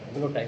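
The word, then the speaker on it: guillotine: इसकी भी स्पेलिंग एक बार देख लेना, ग्लूटाइन होता है, ग्लूटाइन बोला जाता है कि आप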